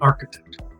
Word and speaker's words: architect: so be careful there and architect first sound is R it's a vowel sound R okay and number eight he's